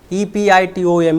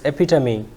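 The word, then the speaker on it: epitome: it is Debut yes it is De then e p i t o m e the correct pronunciation is epitom or sometimes epitomy the next word is g n r e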